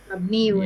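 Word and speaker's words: مبني: Mabniun ya. dibacanya mabniun karena dia masih lanjutan dari fi'lun ya fi'lun mabniyun alal fathi yaitu fi'il madi yang mabni.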